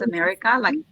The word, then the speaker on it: America: As you can see, yes, it is spelled exactly like it sounds, America, but it's not USA. It's actually just America, right?